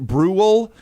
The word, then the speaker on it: Brule: It's pronounced Brew.